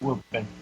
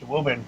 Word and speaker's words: Woburn: school, I spent a couple of weeks in Woburn. Oh, really? Yeah. In Woburn, really? Yeah, and I always love the fact that it's pronounced Woburn and not spelled that way.